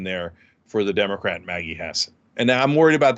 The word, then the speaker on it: Hassan: versus or as I used to call her Hassan but it turns out it's pronounced Hassan um so uh versus Don Bolduc Don uh